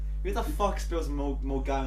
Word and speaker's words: Milngavie: That is the second worst way I could pronounce that. Milton Gavey would be worse. Yeah, Mulgai would have been 10 times worse. It's Mulgai.